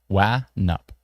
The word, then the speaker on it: Wanup: Oh, Wanup? Wanup is the pronunciation? Wanup or Wanup? I think that's Nup. Wanup? Wanup is the pronunciation.